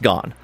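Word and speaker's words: Gahn: remember ex the exact spelling um but it's pronounced gone um and so they believe that not they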